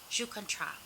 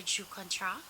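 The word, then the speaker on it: Joues Contraste: is a new shade jucontra i don't think it's i okay it's french i believe a jew contra like you don't pronounce the s this is 320 roujan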